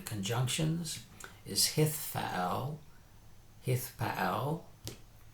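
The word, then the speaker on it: Hithpael: or 7 conjunctions is hithfaal. Hithfaal. And you see again, this time we've added a whole consonant, a whole syllable to the front. Hith to the front. So it's hithfaal.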